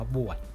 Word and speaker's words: บวด: บวด กัน ครับ แกง บวด ที่ เป็น ขนม นะ ครับ แล้ว ก็ สะกด ด้วย บ ใบ ไม้ ว แหวน ด เด็ก ที่ อ่าน ว่า บวช นะ ครับ เรา จะ ทำ